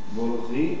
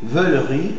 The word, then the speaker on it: veulerie: Volerie. Veulerie.